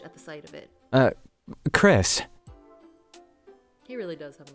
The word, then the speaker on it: Chrys: the sight of it Chris he really does have a nice smile the guy Shay his head at my name tag huh so it's pronounced like Chris but you spell it like chrysanthemum that's pretty sick oh that's